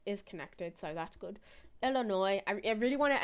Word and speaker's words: Illinois: Illinois, I I really want to emphasize the fact that the S is silent in Illinois.